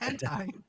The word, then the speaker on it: hentai: Elizabeth Reddick so I doubt there's one it's pronounced hentai so I doubt you have one Elizabeth Reddick